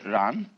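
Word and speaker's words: 然: Chinese expression the the Run they pronounce j like a sort of unrolled r I mean that's the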